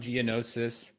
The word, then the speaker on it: Gianniosis: and mortgage sales business today I have Geonosis I pronounced that correctly right money dude giannosis yep Geonosis it's it's spelled kind of